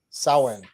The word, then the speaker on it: Samhain: answer Sam hey Sam how's it pronounced that's my buddy Sam Sawan sowing is that how you say it that's how you say